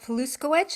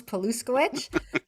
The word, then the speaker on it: Paluskowicz: everyone my name is paluskowicz and palusko which is spelled the exact way it sounds poluskowicz um i am the